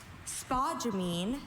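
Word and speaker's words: spodumene: Spa jamine. This is the only pronunciation noun.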